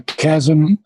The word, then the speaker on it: chasm: abyss very good a chasm the h is not pronounced okay okay now a